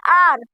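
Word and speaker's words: our: ये ओ यू आर हमने लिखा हु लेकिन इसमें यू साइलेंट है इसलिए हम इसको पढ़ते हैं आर उसके बाद क्या है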